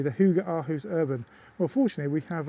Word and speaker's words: Hygge Aarhus: It's called Hygge Aarhus. Thanks, Brian, I appreciate that. And that's how a non-ignorant Brit pronounces it.